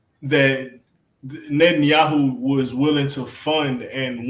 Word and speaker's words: Netanyahu: You said it, Netanyahu.